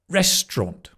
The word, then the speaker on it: restaurant: Restaurant. So it's not restaurant or restaurant. Restaurant. Tra like the train again. Restaurant. Sometimes you can say restaurant. Restaurant. So it's not even an aunt. It's just a restaurant.